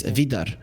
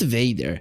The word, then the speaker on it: Vidar: Also, speaking about pronunciation, Optimo, it's Vidar, not Vader. Darth Vader is written as Vader, not Vidar.